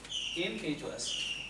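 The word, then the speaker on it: impetuous: इम्पीट्यूअस पढ़ते हैं सही उच्चारण के लिए, इम्पीट्यूअस।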